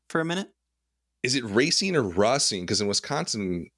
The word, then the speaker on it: Racine: believe in every instance the characters name him or pronounce his name racing yeah racing that's like maybe like